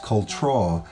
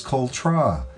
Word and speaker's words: Cultra: Though most often pronounced as Cultra, the actual pronunciation of this residential seaside neighbourhood is Cultra, which literally translates from the original Irish as the back of the strand.